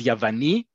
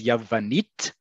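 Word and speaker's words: יוון: Greek is Yavani. The Greek language is Yavanit, and that's all you're going to see.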